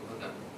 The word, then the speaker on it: Ghadar: Now the Arabic word Ghadar, G-A-H-A-D-R, there is no vowel at the end, but in Urdu and in ordinary Urdu it is pronounced Ghadar, means perfidious action, treason.